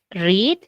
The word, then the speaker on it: read: Solamente qué cosa cambiaba en el red, la pronunciación, ojito, ¿no? En tiempo presente es read, en pasado es red, ¿ok?